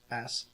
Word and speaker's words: Coney: It's CONEYS. Coney, like Coney Island.